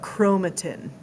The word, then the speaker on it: chromatin: You pronounced it wrong, but chromatin.